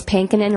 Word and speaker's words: Pankonin: with back home it's pinin rhymes with spankin you'll never forget how